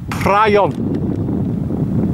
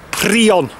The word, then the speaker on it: Prion: you see there - nan Welsh speakers it probably pronounced that Brian but it but it's actually pronounced three on so that's what I'm